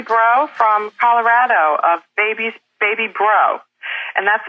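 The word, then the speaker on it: Breaux: Kim Lutz Eisenhower from Lutz's Lather in Pennsylvania, and Julie Bro from Colorado of Baby Bro. And that's spelled B-R-E-A-U-X for anybody who's going to be trying to find her wonderful baby pampering products on the Internet.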